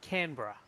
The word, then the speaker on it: Canberra: That's Canberra. Canberra. Canberra. Yeah. It was Canberra. Basically, you can basically take out the E and the R after the B. Just Canberra.